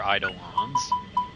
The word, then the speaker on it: Eidolons: Now they're Eidolons. Yeah, thank you, Liam O'Brien, for telling us the correct pronunciation the first time.